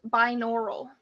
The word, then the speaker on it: binaural: ready for your word yup your word is binaural binaural may please have the definition relating to